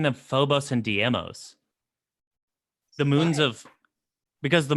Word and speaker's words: Deimos: It's Deimos, right? Yeah, Deimos. Oh, Phobos for fear, like phobia.